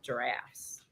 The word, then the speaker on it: giraffe: the fittest but with giraffes giraffes you know you know the giraffe story giraffes he keeps saying giraffes like one syllable and I've had to explain it is two syllables giraffe giraffe yes gir